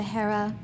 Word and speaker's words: Hera: She gets small curls, the heaviness of hair, knowing heritage by one name to Hera, pronounced like Sahara, a desert rose.